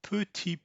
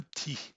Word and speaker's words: petit: she had a hard time hearing un petit peu déçu right here. That is because French people almost will never pronounce petit. They'll say ti.